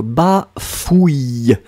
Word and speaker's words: bafouille: C'est ou, et après c'est y. Donc, bafouille.